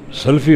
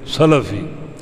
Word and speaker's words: سلفی: ہم کہتے ہیں فلاں سلفی ہے، سلفی غلط ہے، سلفی لام کی زبر کے ساتھ، فلاں سلفی ہے، ان اچھے گزرے ہوئے لوگوں کا پیروکار.